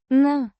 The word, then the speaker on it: на: на. Similar to the English, na, but slightly shorter.